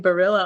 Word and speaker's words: Berilla: excited to bring Ryan Barilla on. Tell me if I'm pronouncing your name correctly. Pronounced it perfect. First try.